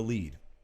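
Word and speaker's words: lede: that's not this is burying the lead which inexplicably is spelled l-e-d-e whatever um there was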